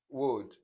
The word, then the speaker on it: would: So let's look at the silent L, that is, you not pronounce the sound in these words. So, palm, bam, sam, walk, talk, stalk, yoke, should, could, would, folk, and so on.